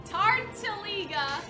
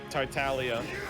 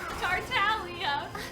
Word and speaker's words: Tartaglia: Tartaliga. Tortellini? Tortellini? How do you say it? Tartaglia. Tartaglia.